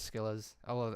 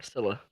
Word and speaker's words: Scylla: Teed says Skillas. Other people say Skillas. I'm like, no, it's Scylla. Like, come on, I Priscilla. just, I don't hear anyone say it. I just always pronounce the C. But now I know. Scylla.